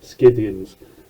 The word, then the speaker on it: Scythians: That guy with the hat, he represents the Scythians, or the Scythians, if you want to say it phonetically, who were sort of in and out of the empire.